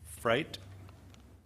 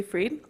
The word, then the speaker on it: Fried: Next is Fright. Sorry about your name if I pronounce it wrong. Hello, my name is Fried.